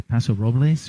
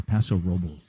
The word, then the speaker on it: Paso Robles: Do you say Paso Robles or Paso Robles? I say Robles. My girlfriend's Latina. I can't say it the other way. You have to say it right, man. You got to get the Espanol correct, Exactly.